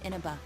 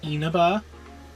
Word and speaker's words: Inaba: Last month, the suspect attempted to kidnap a seven-year-old girl of Inaba, resulting in his arrest. Um, actually, it's pronounced Enaba.